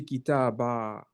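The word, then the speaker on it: كتابًا: You have to say kitaba. You need to pronounce the alif.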